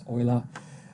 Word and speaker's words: Euler: to pronounce ola because he was from switzerland and he spoke german so it's oila french i know a